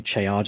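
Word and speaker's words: Ceadda: to change the name of this channel to Chada of Mercia that's how you pronounce it by the way unless somebody fluent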